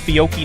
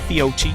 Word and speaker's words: Fiocchi: got fiochi coming up it's pronounced fiocchi not fiochi uh buell collins we